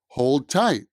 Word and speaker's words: hold tight: hold tight hold tight the d sound at the end of hold kind of disappears hold tight hold tight it almost sounds like hole tight hold tight hold